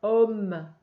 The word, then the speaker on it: homme: Le vieil, le H ne se prononce pas, homme, bougonne, mais, accepte, il